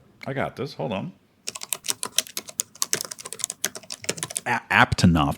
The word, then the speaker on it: Aptonoth: Apanoth. Is that how you pronounce it? But hold on a second. Apanoth? It's Apanoth, right? I got this. Hold on. Aptonoth. There was another T hiding in there.